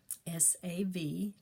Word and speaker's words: Savtah: My grandmother name is Savtah, S-A-V-T-A-H, and it's pronounced Savtah.